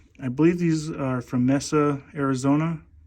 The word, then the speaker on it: Mesa: believe these are from Messa Arizona a lot of people call it Mesa but it's Messa you know that's the